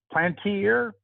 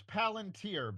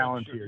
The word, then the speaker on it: Palantir: Then you have, correct my pronunciation, Plantier from the. I think it's Palantir, but I'm not It is 100% sure. Palantir. Yeah. You are correct.